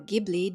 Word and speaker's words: Ghibli: As a longtime fan of Studio Ghibli, or Ghibli depending on how you want to pronounce it, I'm extremely disappointed with this whole situation.